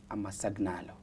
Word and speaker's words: አመሰግናለሁ: Amasagnalo.